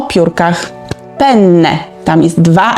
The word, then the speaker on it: penne: o makaronie o piórkach penne tam jest dwa n w środku penne musimy wydłużyć to n ponieważ jak powiemy Il pene to jest no intymna część męskiego ciała więc nie nie pene tylko penne i druga rzecz na